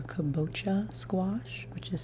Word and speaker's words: kabocha: correct on this this is I think uh koboka or kabocha squash which is spelled